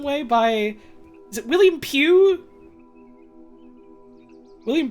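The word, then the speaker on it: Pugh: is a group of game developers I know pronounce Pew okay thank you um I recognize one of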